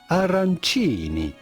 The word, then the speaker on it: arancini: We are looking at how to pronounce arancini with a typical Italian pronunciation, arancini.